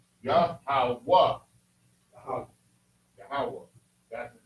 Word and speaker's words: Yahweh: Because in Hebrew, each letter has its own pronunciation. Yahweh.